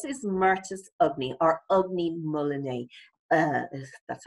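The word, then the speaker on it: Ugni molinae: okay so this is merchant of me or ugly mullaney uh that's how you pronounce it chilean guava and this reportedly is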